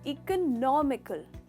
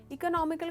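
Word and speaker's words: economical: यहाँ पे हमने इकोनॉमी कहा है, पर यहाँ का प्रोनाउंसिएशन थोड़ा अलग है। इसका सही प्रोनाउंसिएशन है इकोनॉमिकल। इकोनॉमिकल, इकोनॉमिकल का मतलब होता है सस्ता।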